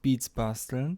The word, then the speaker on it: Beats Basteln: I'm sometimes asked how it's pronounced. It's pronounced Beats Basteln.